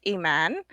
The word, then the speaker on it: Iman: It's actually an Arabic name, so the correct pronunciation is Iman, Iman. but not too many people in the United States can pronounce that. So Iman, like the model that was married to David Bowie.